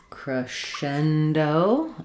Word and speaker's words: crescendo: So, cendo. Um, this one also doesn't really follow American or English spelling exactly. Comes from the Italian. So, we have um stresses on the shen syllable.